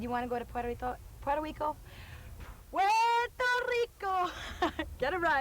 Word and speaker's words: Puerto Rico: And I think the correct way to say it is Puerto Rico.